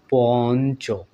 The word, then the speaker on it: পঞ্চ: শব্দটা আমি উদাহরণস্বরূপ দেখাই এটা যখন আমরা উচ্চারণ করি কেমন হয় উচ্চারণ বন্ধুরা বলুন তো পঞ্চ এরকম তাই না এরকম উচ্চারণ করি তাহলে এই শব্দটা যদি